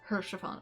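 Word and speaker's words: Haurchefant: It's pronounced Hershafon.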